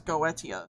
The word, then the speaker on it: Goetia: The most common English pronunciation is goetia.